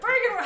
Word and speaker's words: Byrgenwerth: Byrgenwerth.